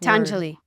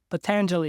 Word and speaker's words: Patanjali: Patanjali. Patanjali, yes.